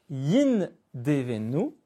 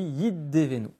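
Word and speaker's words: ידבנו: Au lieu de dire Yindevenu, on dit Yiddevenu. Le Dalet se charge d'une on va dire, d'un poids dans la locution, dans la façon de le prononcer, pour remplacer la perte du nun.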